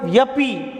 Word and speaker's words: यद्यपि: बहुत सावधानीपूर्वक करना है क्योंकि इसका उच्चारण ज्यादातर गलत ही कर पाते हैं यह यह करते हैं जबकि यह उच्चारण तथा भी सही नहीं है यद्यपि यह यद्यपि यद्यपि इसका उच्चारण सही है नंबर 2 पर आप